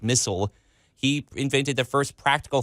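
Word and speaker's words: Misell: So it wasn't until like 1899 when a man by the name of David Missel or Missel, it's spelled like my-cell, but it's maybe pronounced Missel.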